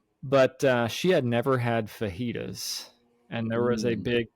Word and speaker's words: fajitas: She does know it's fajitas now, but yeah, she thought the J was fully pronounced, like Fajitas.